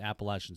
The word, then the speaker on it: Appalachian: so forth you went on he said to appalachian state and then thanks for saying it right